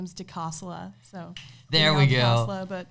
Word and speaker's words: DiCosola: doing good um that Italian last name is deasa so there we go but my middle name's